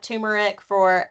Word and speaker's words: turmeric: Turmeric or turmeric, whether you pronounce the R or not, can help with inflammation.